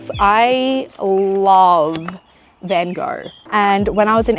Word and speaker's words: Van Gogh: He did videos on the Impressionists, and here's the tea, Vincent Van Gogh, which I know is actually Van Gogh, okay, I'm sorry.